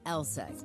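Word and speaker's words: LSEG: be a bit misleading take ours for instance pronounced eleg AKA London Stock Exchange group sure we're in London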